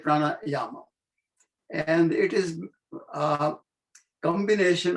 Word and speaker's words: pranayama: The pranayama, number one, let me reiterate, it is not pranayam, it is a pranayama, the correct pronunciation in Sanskrit. If you are pronouncing in Hindi, then pranayam is fine. But in Sanskrit, it's pranayama.